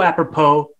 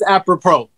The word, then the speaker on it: apropos: So apropos, like fits that, like the number.